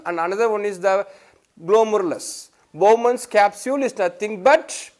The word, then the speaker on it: glomerulus: A bunch of capillaries are nothing but, they are called as glomerulus. How to pronounce it as glomerulus?